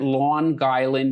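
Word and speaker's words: Long Island: Then came Paul Kosuk, American historian studying ancient irrigation who was based at Lawn Guy University, Brooklyn. And take it from me, that's how the locals pronounce it.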